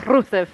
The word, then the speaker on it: Rusev: All three of them They do roll their pronounced it. Rs. Yeah, they all were like Rusev.